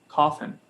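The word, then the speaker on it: Cawthon: you spell that uh it's scott and then c-a-w-t-h-o-n coffin oh yeah so i've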